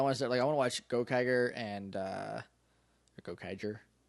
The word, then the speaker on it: Gokaiger: But I want to start, I want to watch Gokaiger and Gokaiger and Soft G. Yeah. Yep. Like Ranger.